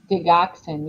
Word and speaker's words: digoxin: your organ if you have heart medications like digoxin is that how do you say that Avia um digoxin yeah John HIV drugs don't take it uh